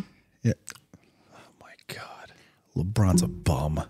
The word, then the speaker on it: LeBron: LeBron's a bum. Lincoln, you said it wrong. It's LeBron.